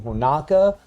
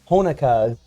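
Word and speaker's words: Honoka: for mispronouncing her name i kept saying honaka but honukah here uh actually deserves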